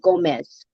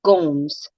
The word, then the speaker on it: Gomes: last name pronunciation um many people here pronounce my last name gomez but it's actually pronounced gomes which which honestly honestly